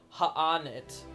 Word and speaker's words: H'aanit: of those things where they have an apostrophe there but they don't want to commit to like pronouncing anything like ha on it yeah they're not doing